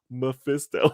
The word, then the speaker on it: Mephisto: i call him assisto yeah now it's actually pronounced mephisto yeah that's not actually pronounced khan like mephist